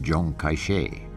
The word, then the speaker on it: Chiang Kai-shek: by generalissimo Chiang Kai-shek whose name in The Mandarin dialect is pronounced John kaiche by 1936 the civil